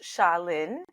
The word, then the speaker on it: Shaleen: the internet yeah so my name is pronounced shalin and the company is